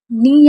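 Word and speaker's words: knee: नी यानी कि घुटना। नी में के साइलेंट रहता है इसलिए हम इसे नी पढ़ते हैं।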